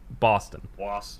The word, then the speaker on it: Boston: spelled like that they telling you to put like kind of a w in boston don't you yeah yeah it's yeah it's here people boston yeah so we we